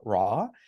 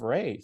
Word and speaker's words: Re: It's pronounced Re, not Ra. Most of the time you'll hear Ra, but it's actually Re, so you can share that as you would like here.